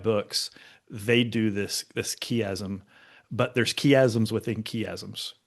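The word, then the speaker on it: chiasm: Um for those for for those playing along at home, in case the word kasm is new to you, it's spelled chi.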